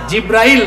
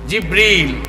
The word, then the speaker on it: জিব্রিল: জিব্রাইল না, জিব্রিল। একটু সঠিক প্রোনাউন্সিয়েশনটা আপনারা শিখে যান, ওই ফেরেশতার নাম হচ্ছে জিব্রিল।